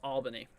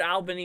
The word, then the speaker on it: Albany: Let's see, it's pronounced Albany. Oh, okay. I always heard Albany. It might even be a regional thing, That might even be a regional thing where some people call it Albany.